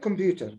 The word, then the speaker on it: computer: When the letters ER came at the final position or the final syllable of a word, it's almost said as a schwa, like fatha in Arabic. So we don't give it a kind of stress. It's a weak sound.